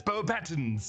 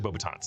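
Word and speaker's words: Beauxbatons: And we should note that Michael Gamin as Dumbledore in this movie does mispronounce Bobatons. He says Bobatton. It's actually Bobbitans.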